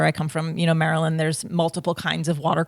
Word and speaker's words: Maryland: I'm originally from the East Coast from a a little uh little state called Maryland, or as I used to pronounce it, Merlin, the wizard.